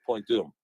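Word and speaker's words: Point Dume: Okay, it's Point Doom. Point Doom. Doom is spelled D-U-M-E. Okay. And the UFO base is located offshore in the water about 6 miles off of Malibu, Point Doom.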